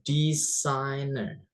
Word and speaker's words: designer: Kemudian ada designer. Designer is desainer ya atau perancang. Di situ ada huruf G enggak usah dibaca ya, Guys.